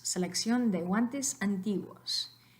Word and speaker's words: antiguos: Entonces, la pronunciación correcta de esta palabra no es antiguos. Antiguos, es antiguos, porque U, O forman un diptongo en la misma sílaba.